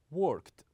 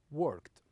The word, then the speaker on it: worked: But some of them has only one syllable, like worked, we pronounce it as worked, worked.